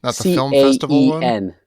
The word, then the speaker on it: Caen: My girlfriend told me that's Caen. It's C A E N.